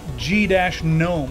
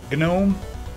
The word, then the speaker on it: gnome: question is from LOL why do you guys keep saying g- gnome isn't it just gnome I can't say it